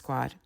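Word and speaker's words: Pécs: do you say it in Hungarian it is pronounced page p c s but the pronunciation is page so the this area by the way was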